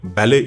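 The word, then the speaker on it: ballet: உதாரணத்திற்கு பிரெஞ்சு மொழியில் பெரும்பாலும் ஒரு வார்த்தையின் இறுதி எழுத்தை உச்சரிப்பது கிடையாது. பிரெஞ்சு மொழியில் இருந்து பெறப்பட்ட பேலே இறுதி எழுத்தின் உச்சரிப்பு இல்லாமல் ஆங்கிலத்திலும் பேலே என்றே உச்சரிக்கப்படுகின்றது.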